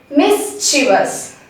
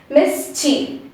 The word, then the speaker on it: mischievous: the la it's so the main mistake we made is in the last third syllable actually it's let's divide it into three syllables let's take the first syllable as miss next one as chi and the last one is okay the first syllable is pronounced correctly miss next one comes here we prolong the che over here actually we need not prolong it we have to cut short it it's mischief we don't